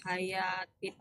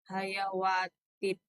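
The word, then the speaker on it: حياة: ilal ard araditum bil hayatid dunya minal akhirah fama mata'ul hayawatid dunya fil akhirati Fama illa mata'ul qalil. hayati. Fama mata'ul hayati. Bukan hayawat bacanya tapi hayat.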